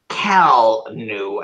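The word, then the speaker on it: Kellnew: Kelnu, as in K-E-L-L-N-E-W.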